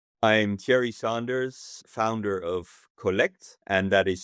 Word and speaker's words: Kolekt: I'm Thierry Sanders, founder of Kwallet, and that is spelled k o l e k t. And the reason why it's spelled that way is because it all started in Bali in Indonesia, and Indonesians can't pronounce the English collect.